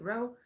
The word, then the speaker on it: Roa: animation called constant zero they write Roa but they pronounce it row um it's an American